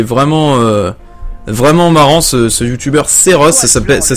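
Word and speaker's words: Seroth: Oh, non mais je te jure franchement il est vraiment vraiment marrant ce youtubeur Seros. Ça s'appelle, ça s'écrit S-E-R-O-T-H.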